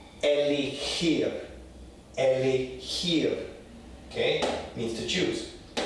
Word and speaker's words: elegir: So this word here, elegir, means to choose, right? So listen for the sound, the very guttural sound. Elegir, elegir, okay, means to choose.